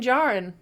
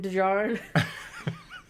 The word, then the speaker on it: Djarin: There's a D there that I really want to pronounce. I know it's wrong, and I'm so sorry. I know. Din Djarin. Din Djarin. It is there. It's in the sound. It's yes. Djarin. With a D in it.